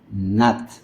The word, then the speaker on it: not: Aquí esta vocal es baja, recordamos esos sonidos especiales. No es tanto la pronunciación como not, sino un poquito con la caída de la A, not, ¿no?